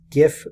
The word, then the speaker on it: GIF: a little bit about gifts what are they well first of all gift spell gif and it's pronounced gif not jiff I don't care what